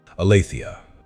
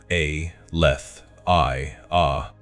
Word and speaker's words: Aletheia: Aletheia. Say it slowly. Let the syllables vibrate through your body. A leth i a.